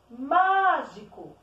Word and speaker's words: mágico: Mágico. Descobri que a sílaba tônica da palavra mágico é o má.